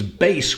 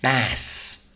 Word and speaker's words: bass: bass voice or bass tenor voice so it's bass when it's referring to a musical instrument or a tone or a pitch however as a noun it also has another pronunciation which is Bess and bass is a type of fish usually